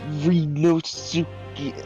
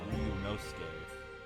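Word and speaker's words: Ryūnosuke: okay um right re reos I'm bad at Japanese it's pronounced runos Renos okay right Renos oh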